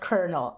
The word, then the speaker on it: colonel: __ ] hate that i hate that it's pronounced kernel i hate that oh